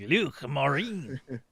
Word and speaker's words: Luc Morin: You got to get a little gurglier on it though, like Luc Morin. Gets like gargle some water or something.